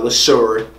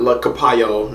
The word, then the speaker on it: Leshurr: Now, Leshurr. Not la. Not La Capayo, not La Capone, none of that. Leshurr.